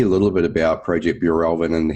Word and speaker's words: Bjurälven: so tell me a little bit about project Bureau Elvin and how it came about and make sure For Heaven's Sake that I'm pronouncing it correctly as well yeah it is